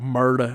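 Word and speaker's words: Murdaugh: You got to say it like that. When I was watching the documentary, that's how they were, Murda. I was like, are they saying murder?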